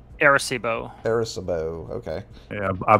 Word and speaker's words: Arecibo: Arecibo? Arecibo. Arecibo. Okay. Yeah, I butchered it too.